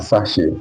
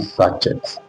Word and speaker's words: sachet: do you understand sache it is pronounc sache I need a sache water okay sache water not sachet it is not sachet sache okay look at it